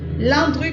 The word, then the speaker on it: Landru: Landru, comme ça se prononce, L-A-N-D-R-U.